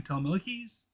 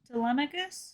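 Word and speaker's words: Telemachus: Tamilikes. I'm pronouncing that right? Who voices him? Tammicus. Tammicus. See, that's why she's the better.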